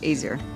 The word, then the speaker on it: Azir: My father studied in Azir. Is that the name of the place? Am I pronouncing that correctly? Azir. Azir. Yes. I said it incorrectly. Azir.